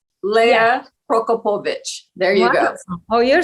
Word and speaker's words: Lea Prokopowicz: is here today Leia okay how do you pronounce it Leia prokopovich there you go oh you're so good at